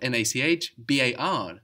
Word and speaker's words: Nachbar: This is spelled N-A-C-H-B-A-R. It ends in a consonant. It doesn't sound like a consonant though. It sounds like an A, no? Nachbar. So in this case, you